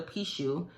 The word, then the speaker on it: Pixiu: And it's just a 3-legged lion, and it's called a Pishu, and it's spelled Pixiu.